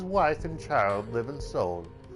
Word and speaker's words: Seoul: Sorry, Seoul is technically how it's pronounced, not Seoul. I know I say Seoul, but it's Seoul because it's 2 syllables.